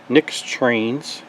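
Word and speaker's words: Nyx Trainz: there's a company called nyx trains which is spelled nix t-r-a-i-n-z and they have a product called decoder buddy and they have a version 4 and version 5.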